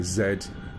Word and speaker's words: zed: So you'll find an automatic mark point created called mark point zed or yeah zed. That's how you say it properly.